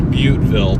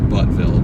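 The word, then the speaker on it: Buteville: It's It's Butville, by the way. It's not Buttville. It's spelled B U T E V I L L E.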